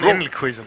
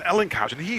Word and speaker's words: Elkhuizen: I'm from the Netherlands, and I've Elkhuizen. Elkhuizen. Hausen. Why Hausen? Hausen. Yeah, it's the Dutch like pronunciation for that Hausen.